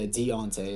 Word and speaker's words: Deontay: Yeah, Deontay is how it's pronounced.